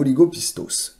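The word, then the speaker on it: ὀλιγόπιστος: Alors je ne sais pas si le S, de mémoire en grec, le symbole S là, se prononce. Oligopisto ou oligopistos, bref, qui signifie littéralement, donc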